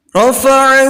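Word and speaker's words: رَفَعَ: Di situ anak-anak bisa lihat ada ro yang Bapak garis bawahi kembali di kalimat yang kedua di dalam kata rafa'a. Kenapa dibaca tafkhim ro-nya atau dibaca tebal ro-nya?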